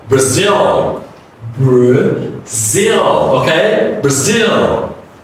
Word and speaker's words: Brazil: The first A is reduced. The next one is stretch. Brazil. Brazil, okay? Brazil. It's interesting, all right? Brazil. It's not Brazil. It's wrong. It's incorrect pronunciation. So it's Brazil.